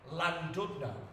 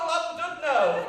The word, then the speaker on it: Llandudno: I went on stage and I went, hello Llandudno! And a woman in the front lost her fucking shit. Actually, it's pronounced Llandudno! With as much fucking hate as Llandudno! And I was like, no, it fucking isn't.